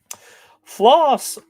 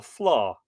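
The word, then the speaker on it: flaith: of course as always flaw flaws f l AI T HS so the reason I I struggle to pronounce that one is because that's like an anglicization of an Irish word flaw or Noble the nobles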